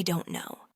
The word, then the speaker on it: don't know: That t sound in don't actually often changes to an r sound when it links with no. So you're not actually pronouncing a hard t sound. You're blending it so it sounds like I don't know.